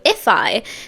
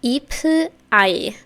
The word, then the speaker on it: ifeye: Today we're going to be listening to if I, which I believe is how you pronounce this, if I, which is how you read it in Korean. So, it's if I, I believe.